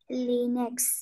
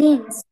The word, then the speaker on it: lynx: She had a pet Linux. Link ঠিক আছে এটা pronunciation Lynx.